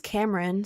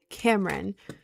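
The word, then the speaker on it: Camryn: It is spelled C A M R Y N. Cameron.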